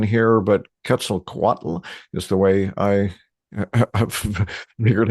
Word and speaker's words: Quetzalcoatl: Anyway, correct me on that in a moment, but the question Quetzalcoatl. Say it again? Quetzalcoatl.